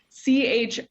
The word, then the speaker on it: Chordoma: I feel the need to spell it first because it doesn't look how it sounds. Chordoma.